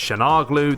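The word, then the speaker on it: Çalhanoğlu: you say his name I'm gonna call him Shamu glue because I've looked it up and it's Shan Hana glue its shanaar glue there's too many glue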